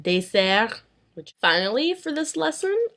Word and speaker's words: dessert: However, in words very similar to that, where there are two S's, an S is pronounced as an S. Like in poisson et dessert.